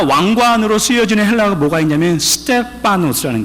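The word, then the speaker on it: στέφανος: 또 하나 왕관으로 쓰여지는 헬라어가 뭐가 있냐면 스테파노스라는 게 파노스, 그냥 피 발음을 하죠. 편하게.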